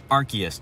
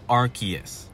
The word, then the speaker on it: Arceus: And just to get this out of the way, I say Arceus. I know it's mostly pronounced Arceus, but when the pronunciation is so confusing that the Pokemon company themselves don't know how it's pronounced.